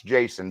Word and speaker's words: Jasan: say that jokingly with my name jason with two a's i still pronounce jason but generally on all